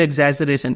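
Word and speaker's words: exaggerate: सब फीचर यही प्लेफुल एजरेट इसको प्रोनाउंस कैसे करेंगे एजर ठीक है जे ई आर एजरेट ऐसे प्रोनाउंस करते हैं हम लोग इसको तो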